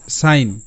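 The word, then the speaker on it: sign: এই কনফিউশনটাই কিন্তু হয় আর এস আই জি এন এটা হবে সাইন কারণ আই এন জি এর সাউন্ড হবে অনুস্বার আর আই জি এন এর সাউন্ড হবে কিন্তু আইন ভালো করে বুঝতে হবে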